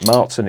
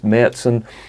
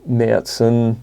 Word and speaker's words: Märzen: The two umlauts over the A make it so as it's pronounced Märzen.